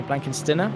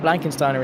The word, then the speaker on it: Blankensteiner: guy as Mount blankensteiner apparently I'm one of the only people to pronounce pronounce his name right people are calling like blankensteiner or I don't even know blanken's dinner I don't know Martin blankensteiner is the only way I've really ever been able to pronounce it but he's a lovely